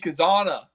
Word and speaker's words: Cazana: Yeah, like every AI that ever happens is always like Cazana.